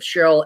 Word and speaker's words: Sharyl: Cheryl is spelled Sharyl.